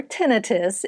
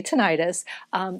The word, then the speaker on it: tinnitus: with cervical tinnitus or tinnitus it can be pronounced both ways but i like to say tinnitus this is caused by